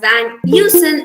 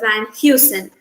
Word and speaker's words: Van Heusen: famous clothing brand here the h sound here is silent and uh we pronounce this as van newson instead of van heusen this this came as